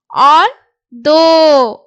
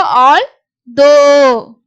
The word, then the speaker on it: although: although, இது ஓ. இங்க OUGH க்கு பாத்தீங்கன்னா ஓன்ற சவுண்ட். இது 4 எழுத்துக்கும் சேர்ந்து ஓன்ற உச்சரிப்பு வரும். அப்போ although.